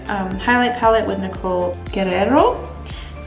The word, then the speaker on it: Guerrero: beverly hills collaboration um highlight palette with nicole guerrero that's how you say it and i'm going